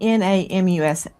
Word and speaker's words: NamUs: The NamUs database, the the government missing persons database. Guys, Lauren is saying N A M U S. NamUs is the way it's pronounced, and it is a missing person database,